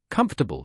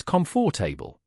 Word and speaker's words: comfortable: pronounced as as they are spelled for example comfortable is often mispronounced as comfor table the correct pronunciation is comfortable breaking words into